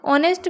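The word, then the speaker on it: honest: ऑनेस्ट में एच जो है वो साइलेंट है इसलिए ओ जो है वोवेल है।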